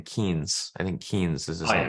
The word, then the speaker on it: Keynes: Keynes.